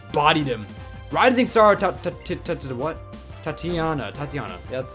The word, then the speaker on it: Tatiana: Tatiana. Yeah, that's how you pronounce it.